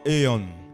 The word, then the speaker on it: Aion: And you have to pronounce it aeon.